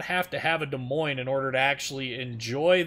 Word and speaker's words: Des Moines: So, yep, I'm sure this will be a short match in the Des Moines. Des Moines is actually how it's said, but Des Moines, or Des Memes as some people call it.